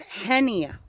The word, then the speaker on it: Hennya: for those that they can't pronounce my name right it's hennya but I like